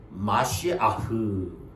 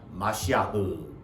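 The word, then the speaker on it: מָשִׁיחַ: 메시아는요 왕을 메시아라고도 하고 또 구세주를 메시아라고도 하는데 발음은 마시아흐 이렇게 발음합니다. 마시아흐.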